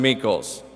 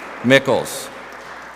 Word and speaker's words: Mickles: year's recipient is carson meekles mickles mickles rhymes with pickles i'm sorry kwwl best